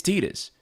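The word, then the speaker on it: Tidus: 2 James Arnold T Taylor confirmed it's tetus 10 years ago yeah it's tetus like it's it's one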